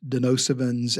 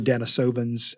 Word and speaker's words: Denisovans: the view that Neanderthals, Denisovans, and or Denisovans, I've heard it pronounced both ways, and other hominins were creatures that had some measure of intelligence, emotional capacities.